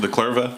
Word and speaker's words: The Clevra: How do you pronounce it? The Clever.